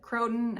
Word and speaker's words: croton: Some people pronounce it croton. I just say croton because it's a little bit easier for me.